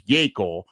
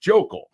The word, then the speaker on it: Yakel: call him, So his actual last name is Yakel, but everyone just thinks it's pronounced Jokel. So everyone calls him Joke or Jokel.